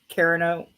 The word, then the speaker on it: Carano: Okay, so yeah, Brendan Fraser, Nathan Fillion, Gina Carano, I don't know how to say her last name, but she was in The Mandalorian and Deadpool.